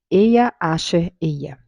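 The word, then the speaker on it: אהיה אשר אהיה: o que eu sou em hebraico pronuncia-se eia acha eia é uma tradução comum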